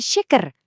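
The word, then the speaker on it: şeker: Huruf sy yang ada buntutnya ini bunyinya sama persis dengan she dikata syukur. Jadi shaker dibacanya shaker.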